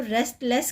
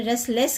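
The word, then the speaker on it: restless: था स्टोरी में रेस्टलेस, अगर आप इसको रेस्टलेस कहेंगे इसकी प्रोनाउंसिएशन अलग हो जाएगी, और आपने रेस्टलेस कर दिया, टी को छोड़ दिया, तो इसकी प्रोनाउंसिएशन थोड़ी और इम्प्रूव्ड मिलेगी आपको।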